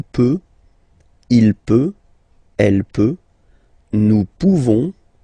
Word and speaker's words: pouvons: And then nous, so classic ending for nous, this ONS ending for nous, okay? Nous pouvons, okay? You don't pronounce the final S. Nous pouvons.